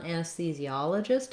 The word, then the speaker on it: anesthesiologist: So our primary stress on anesthesiologist is on the ah syllable, and that letter O says the ah sound.